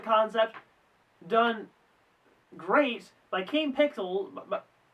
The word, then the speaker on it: Kane Pixels: An excellent concept done great by Kane Pixels but but It's Pixels, isn't it? I've been saying it wrong this whole time. Kane Pixels.